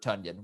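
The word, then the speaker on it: Tonyan: should be clear that it's pronounced robert tunyan we're just gonna have to keep reminding people until it becomes a household thing how about how the packers pr people were like as in you know rhymes with funyun it was like uh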